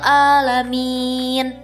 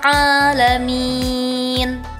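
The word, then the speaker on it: العالمين: Pada ayat ini masih banyak yang keliru membaca huruf ain seperti hamzah. Maka terdengar seperti ini. Alhamdulillahiabbil alamin. Padahal makhraj huruf ain ada di tengah tenggorokan, sedangkan hamzah ada di pangkal tenggorokan. Maka pengucapannya jangan sama ya, harus terdengar seperti ini. Alhamdulillahirabbil alamin.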